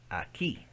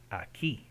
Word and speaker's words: aquí: Aquí. Aquí. Here means here. This location. So another one. That doesn't say que. It's the silent. The U is silent.